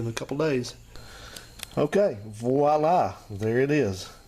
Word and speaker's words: voila: It's pronounced with a V sound because the word is actually begins with a V. It's voila, not voila.